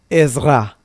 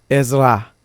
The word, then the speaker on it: Esra: Y voy a tomar el capítulo 7, versículo 1, donde encontramos aquí el nombre en hebreo de Esdras, que es Esra. Sí, Esra o Esra, para una pronunciación más eh entendible en español.